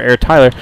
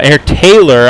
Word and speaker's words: AirTaylor: solid good game for air Tyler uh air Taylor I'm sorry I keep mispronouncing your name not sure why I'm